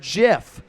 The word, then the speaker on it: GIF: mean that okay we I don't think there's ever been a clearer example of how a word should be pronounced then coming from the creator of it it's like the most simple instruction booklet you could ever open up it says step 1 pronounce the word jiff step 2 close the